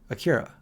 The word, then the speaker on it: Akira: before grave of the fireflies it was Akira Akira there hey you got you said it right